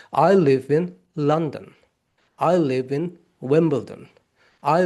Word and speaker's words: London: The real pronunciation is London.